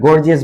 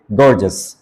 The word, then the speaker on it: gorgeous: Viewers, এটাকে আপনারা গর্জিয়াস বলবেন না, এটা শুদ্ধ উচ্চারণ হচ্ছে গর্জাস।